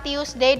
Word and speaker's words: Tuesday: perhatikan biasanya ketuker antara tius Day dan Thursday kalau selesai itu bacanya tius day walaupun tulisannya tuwe Tapi bacanya tius Day kemudian kamis Dia